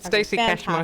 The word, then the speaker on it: Stacy Cashmore: Is it Yep, you Stacy pronounced it Cashmore? right. Yep, Okay, Stacy Cashmore.